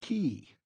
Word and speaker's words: cay: at least pronounce it correctly Scotty K is pronounced key see Scotty exclaimed triumphantly the only place where